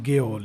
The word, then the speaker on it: gaol: ये spelling GAOL is also pronounced as jail, and it means A jail, दो some people pronounce it एज गेओल, इट इज a jail.